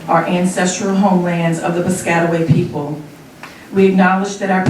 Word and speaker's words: Piscataway: an enrolled member of the piscataway kanoi tribe it's the proper pronunciation of it it's usually the scatter way that people mispronounce but it's okay right